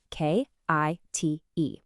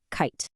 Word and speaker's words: kite: Is it kit or is it kite? Yes, you got it. It's kite. The I says its name, I. All because that little silent magical E at the end is telling it to.